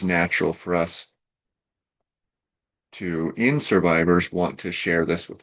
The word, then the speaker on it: SRVIVRS: Well, Survivors is an organization, as the word implies. It's spelled a little bit different. It's spelled SRVIVRS, and the I in